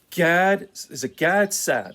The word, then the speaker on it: Gad Saad: Gad Saad? That's how you pronounce his name.